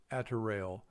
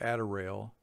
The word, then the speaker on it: attirail: At this point, I had to look up the word attiraille, which is spelled A-T-T-I-R-A-I-L.